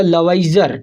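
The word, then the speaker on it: Lavoisier: तो सबसे पहले जो साइंटिस्ट थे या केमिस्ट बोल सकते हैं, जिनका नाम था लवाइजर, ठीक है ना। लवाइजर स्पेलिंग क्या है?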